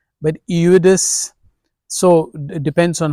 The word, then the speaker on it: Eudes: So some would call him Eudes, but not Judas, but Eudes. So it depends on how you pronounce it. It's a French name, and he was a